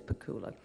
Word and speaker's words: Pakula: with my late husband Alan pakula sorry about the pronunciation it is pakula uh who was working